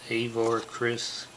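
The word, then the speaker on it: Avar Kriss: master avar chris that's how you say it avar chris does a little princess leah gimmick here appearing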